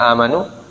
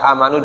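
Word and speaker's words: آمَنُوا: Nah, kalau kita bacanya ya ayyuhalladzina amanu dengan 2 harokat, ya. Tapi ada qiraah yang membaca amanu dengan 6 harokat. Jadi bacanya ya ayyuhalladzina amanu.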